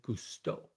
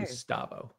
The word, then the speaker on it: Gusteau: But the thing about it is that Quinn got the chef's name wrong. Oh. Quinn, you definitely need to spend a little bit of time in the kitchen with Gusto. Gusto. Okay. Called him Gustavo.